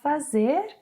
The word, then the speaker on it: faz: Instead of 'fazer' we can say 'fazê'. (When did you start roller-skating?) (Have you been roller-skating long?) Some speakers will insert... 'Faiz', not 'faz'.